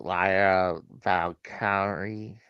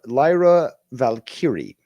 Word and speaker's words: Lyra Valkyrie: the I mean I know there's I can't pronounce that woman's the Intercontinental Champion. What was it? Lara Valkyrie. Uh Lyra Lyra Valkyrie.